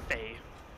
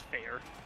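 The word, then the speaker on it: Feyr: It was probably just pronounced as fair. Not fey. It's fair.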